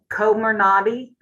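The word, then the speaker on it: Comirnaty: for their vaccine for 16 and over uh komer nadi i believe is the way that we're pronouncing that and if you have been waiting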